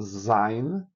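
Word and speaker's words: ז: O zin, que tem o som de Z.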